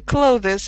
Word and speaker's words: clothes: mean Brits Australians Americans say close with a Z sound like zoo zebra just like close the door mm it's easier it